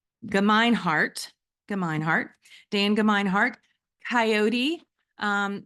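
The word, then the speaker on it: Gemeinhart: for you and I'm GNA make sure I pronounce um Dan's name correctly it's ginart ginart Dan ginart coyote um Sunrise is also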